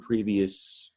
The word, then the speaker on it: previous: and just a reminder it's spelled with an o but you don't hear it e s from the